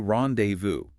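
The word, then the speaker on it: rendezvous: Importantly, the final S is silent. So, how do we say it? It's often simplified in English to rendevu. The key to the British standard pronunciation is maintaining a soft flow and avoiding hard anglicized ziz sounds.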